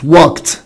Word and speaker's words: walked: walk يعني يمشي، it walked walked walked. يبقى الاي ما اتنطقش والدي نطقت تي.